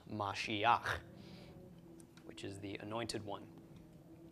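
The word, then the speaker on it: משיח: tok under the hate so we've got ma she instead of ma she huh this is Mashiach which is the anointed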